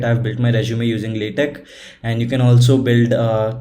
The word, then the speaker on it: LaTeX: It's spelled as LATEX, but it is pronounced as LaTeX or LaTeX, as you can see here.